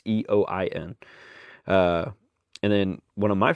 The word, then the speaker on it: Eoin: I think it's Owen Tracy. It might be Ian. Because it's spelled very different than what I'm used to, but it is very much a Irish spelling of the name. It's Eoin.